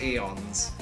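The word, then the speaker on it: aeons: in the room of eons and I just cannot do it I tried though left honestly I prefer the left more than the right uh you pronounce it like eons the a is silent just like the t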